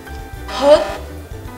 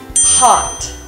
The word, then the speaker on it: hot: Hot. Hot. Hot. The ah sound in this word is often pronounced as which is a little wrong. It should be hot, not hot.